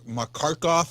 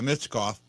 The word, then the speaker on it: Michkov: guy that just signed, and Makarkov or something like that. I can't pronounce it. You know how bad I am with names to begin with. Michkov? Yeah, Michkov.